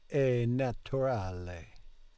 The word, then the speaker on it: naturale: We have in English natural, but in Italian you will pronounce the T like a T. Naturale.